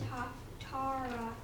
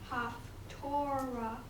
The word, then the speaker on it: Haftarah: The correct pronunciation of Haftarah is Haftarah. It is not Haftorah, which is the Sephardic pronunciation that we have adapted to since the creation of the state of Israel and the coming back of Hebrew as a living language. Haftarah was the Ashkenazi pronunciation that we no longer use.